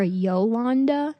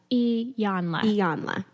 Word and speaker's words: Iyanla: I know I was, because I call her Yolanda, and that is not her name. There's not even, it doesn't begin with the Y.